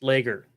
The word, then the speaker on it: Lager: Yeah, except everybody pronounces it wrong. It's Lager. Lager.